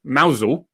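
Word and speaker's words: Mousehole: few places around cornwall one's called mausol which is spelt mouse hole and there's there's plenty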